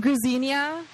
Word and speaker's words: Gruzinia: Gruzinia rhymes with gardenia is how he introduces himself.